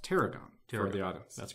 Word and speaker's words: T'Aragam: okay and the title of the book is pronounced Teragon for the audience that's correct for the okay